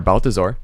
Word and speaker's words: Balthazor: of the NFL season I'm here with Balthazar I can't how are you I'm good cuz I pronounced your name okay okay good and I'm